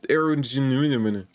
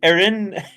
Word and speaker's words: Erinnerungen: The first wave of this so-called art is an exhibition called Verschlossene Erungen, spearheaded by... And I keep mispronouncing the second word, which undermines my claim to pronouncing it correctly. Erinnerungen.